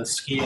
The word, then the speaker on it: SCI: I do direct the Scientific Computing and Imaging Institute, and we do pronounce that the SCI Institute.